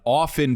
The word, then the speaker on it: often: Often people say often and they say often, even though the T is silent, but the T's there, right?